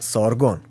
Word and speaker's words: Sargon: Actually, it's pronounced Sargon in, you know, the ancient Persian.